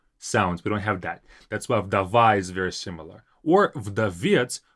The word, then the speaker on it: вдова: Вдова, very similar in pronunciation with English. Widow, вдова. In Russian, we don't have this w and widow sound. We don't have that. You might even hear a Russian say vidov because we don't have this widow sound.